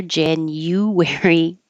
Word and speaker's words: January: January, February. Usually the U changes to Y.